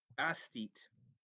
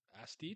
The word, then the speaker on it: aesthete: All things considered, so we're doing the thing where we learn how to pronounce words. Oh my god, that's the wrong. Aesthete. Aesthete.